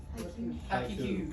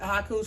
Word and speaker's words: haiku: Haiku. Cool. Okay, so here's what it is. It's a three line. Do you know what country origin haiku's from?